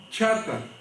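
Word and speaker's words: חטא: cuál es su consecuencia la palabra pecado en el en el hebreo se pronuncia chata o en griego que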